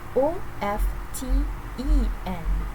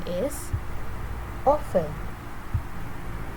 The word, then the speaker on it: often: Okay, for the second word, o f t e n, the correct pronunciation is often. Often. This word does not strictly follow its written form.